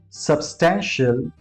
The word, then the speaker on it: substantial: TIAL को कभी भी शियल बोलने की कोशिश ना करें because that's not the right pronunciation. Instead of saying shiel, just call it shell. Shell. For example, partial, substantial and potential.